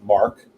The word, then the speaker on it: Marque: Those of you on the interweb can look that up on your own time, but it's pronounced as in the French Mark.